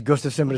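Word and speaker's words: Gustafsson: Gustafson is hurt and people hate the way I say his name is ghost assemble it's fun to say that way DC is not fighting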